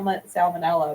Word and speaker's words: salmonella: you say that Sal it's like spelled Sal salmonella but sal sal okay I'm going to